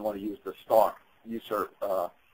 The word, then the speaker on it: USRP: to use the stock user uh usrp is usually pronounced user um on the left